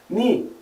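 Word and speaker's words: knee: exemplo a gente tem palavras terminadas em k e n no inglês onde a gente não pronuncie o som do k no saber Knife faca ni joelho dorob maçaneta Então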